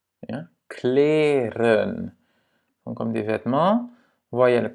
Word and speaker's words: kleren: Kleren. Ja? Kleren.